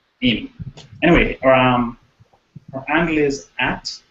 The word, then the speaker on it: Aimee: The third one I would quickly like to give a shout out to is Amy. I hope I pronounced that correct. It's spelled AIMEE, and it's Spanish, so I'm pronouncing it Amy.